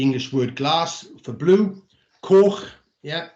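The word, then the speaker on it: coch: word glass for blue cork yeah or cork is as close as we can get it with using an english word for red um d for black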